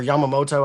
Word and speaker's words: Yamamoto: Um I I'm sticking with my with the guys that helped me hit and Yamato has been or Yamamoto. I said it wrong.